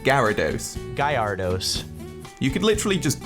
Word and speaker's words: Gyarados: and begin with for everyone out there it's pronounced gyarados Gallardo's you could literally just google this to